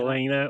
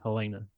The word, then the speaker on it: Helena: So it is pronounced Helena. If you are on the East Coast, they pronounce it Helena. But we're in the Midwest. We're in the Midwest. And I had already always called it Helena. Helena. I'd always said Helena. Helena, not Helena or Helen.